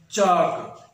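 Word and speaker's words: chalk: ساتھ پڑھیں گے اور ایل کی آواز نکالیں گے تو وہ یوں آواز نکلتی ہے چالک، چالک نہیں بلکہ چالک، اور جو کہ غلط ہے. تو درست اس کا جو تلفظ ہوگا، درست جو پروننسیشن ہوگی، ادائیگی ہوگی وہ یہ ہونی چاہیے جس اردو میں ہم لکھتے ہیں چاک، جس اردو میں ہم لکھتے ہیں چاک.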